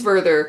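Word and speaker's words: Werther: Soros of young vther I think it's vther cuz he's a German author and they pronounce their W's like VES by uh girtha um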